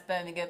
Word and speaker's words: Birmingham: this is depth Justin I hate it when people pronounce Birmingham as Burma no it drives me mad say Birmingham they can't say Birmingham Birmingham Birmingham just can't do it so you get three